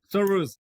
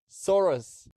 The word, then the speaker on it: Soöruz: How do you pronounce it? Soruz. Soruz. Yeah, exactly. Soruz.